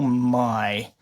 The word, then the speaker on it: May: So like like May, but I guess the German way of pronouncing it is my.